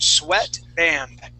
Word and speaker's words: sweatband: please good yes so that is a short e sound Sweat Band okay now we call